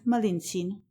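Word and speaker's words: Malintzin: the name of Marina which the Aztec pronounced malinin when the Conqueror received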